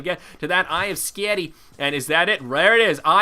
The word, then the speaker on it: Skadi: I always want to say Eye of Skadi, and I know that's a weird way to pronounce it, so Skadi.